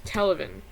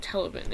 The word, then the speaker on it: Televin: This is Televin. That's how you pronounce it, Televin. It's like 11, but with the T, Televin. Except that you don't say Televin.